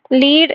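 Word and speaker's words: lead: Like இங்கே பார்த்தீங்கன்னா லீட், லெட் difference தெரியுதுங்களா? லீடுனா அந்த லீடர்ஷிப் குவாலிட்டி அந்த வேர்டு, அதே லெட்டுனா இது ஒரு மெட்டல்.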